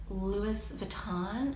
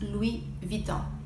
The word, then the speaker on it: Louis Vuitton: at the beginning of the word you don't pronounce it another iconic and trendy fashion house is Louis Vuitton Louis Vuitton Louie Vuitton de lavit une it's actually pronounced Louie Vuitton speaking of very trendy we have Celine also